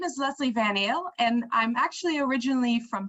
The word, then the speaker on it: Van Ael: And there is Miss Leslie Van Eel. I'm pretty sure I didn't pronounce it. It's perfect. Yeah, it's perfect. Van Eel.